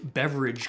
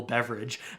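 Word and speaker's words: Beveridge: uh interesting concept and it's called the the beverage curve and that's not like beverage like you're having a pop it's spelled a little bit differently beverages after um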